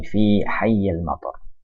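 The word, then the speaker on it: في حي المطار: Fi ini huruf jar, oleh karena itu ini bacanya hayy, fi hayyil matar.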